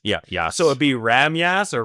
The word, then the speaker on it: Rhamgjas: Sometimes J's are pronounced as Y's. Yeah. So it'd be Ramyas or Ramyas.